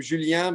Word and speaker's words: Julien: I say his name Julien because he's French, so I have to say it with an accent.